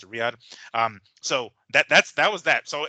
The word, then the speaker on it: Riyadh: That's how you pronounce it, Riyadh.